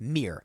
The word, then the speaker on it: mirror: The most typical Conor Oberst pronunciation of mirror is mirror. Yes. One syllable.